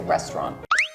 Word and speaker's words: restaurant: and not say the middle we just say restaurant so the next one is I would just